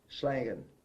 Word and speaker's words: Schlangen: How do you pronounce it? Schlangen. Correct? Yes, that is correct.